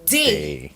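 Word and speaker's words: dé: So this word here, if D is pronounced as D and this E is pronounced as A, this word would be day, right?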